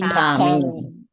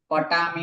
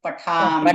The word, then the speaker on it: पठामि: पुरुष एक वचन पठामि पठामि टने, ठ का उच्चारण करना है। पठामि, पटामी नहीं है, क्या है? पठामि। पठामि हाँ, ठ के ऊपर थोड़ा सा भार देकर बोलिएगा तो उसका उच्चारण होगा पठामि, पठामि।